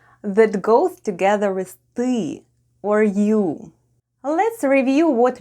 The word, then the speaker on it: ты: When we need to say "you want" it's ТЫ ХОЧЕШЬ /têê hhochesh/...